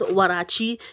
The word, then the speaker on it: Huarache: Well, it's actually pronounced Huarache. It's like, so the history from this is actually from Mexico.